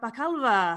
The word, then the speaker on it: Bakalova: film borat subsequent movie film please welcome maria bakalva hello hello oh my god you you pronounce my name proper the way that it